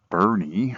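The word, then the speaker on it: Boerne: are here in the town of Bernie although it's spelled sort of like born got off the freeway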